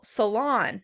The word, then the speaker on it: salon: The Americans would pronounce it on the second syllable, salon, salon.